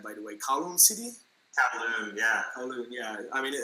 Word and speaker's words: Kowloon: Kowloon, yeah.